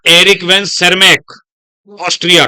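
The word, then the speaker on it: Tschermak: तीन मैंने नाम बताए एरिक वन सर्मक बोलते हैं टी एस सी एच ई आर एमसी नाम होता है वैसे टी से शुरुआत होती है बट साइलेंट होता है एरिक वन सेरमक कहां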